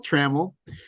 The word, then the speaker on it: Trammell: other interview with we check corrected the names pronunciation so Trammell um he's an accomplished sailor a writer a